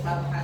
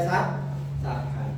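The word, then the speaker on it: صبحا: Berhubung nanti kalau baca di akhir ayat ini, di akhir kalimat ini diwakafkan, jadi cukup sabha saja, tidak boleh sabhan. Itu dibaca tanwin fathahnya dihilangkan, sabhan jadi sabha.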